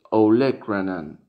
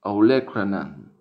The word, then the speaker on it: olecranon: Y a la derecha, una palabra que es olecranon, olecranon, olecranon, olecranon, que en español se escribe igual pero con un acento en la E, olecranon, olecranon.